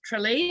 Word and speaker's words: Tralee: We made reference to the Rose of Tralee, I think it's how it's pronounced.